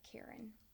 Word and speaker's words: cairn: But when you stack rocks like that, that's called a cairn. Not like the name, like, oh my gosh, that lady's such a Karen.